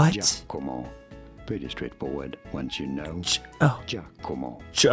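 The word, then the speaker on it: Giacomo: How do you go about pronouncing it? In Italy, it is said as Jako. What? Jako.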